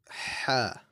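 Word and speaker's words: حاء: The next letter within this three similar letters category is ha, right? This is a throaty kind of light H sound, right? So it's a ha. So we pronounce it from the middle of the throat.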